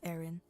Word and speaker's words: Erin: you West I mean my name's pretty easy to to pronounce it's just Aaron like if you were